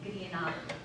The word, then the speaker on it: grianach: So you have to get the CH sound at the end, grianach.